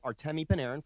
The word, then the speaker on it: Artemi Panarin: So this move, Panarin, and by the way, cheat code for all of those who are wondering how to pronounce his name, Artemi Panarin, for those that I said it.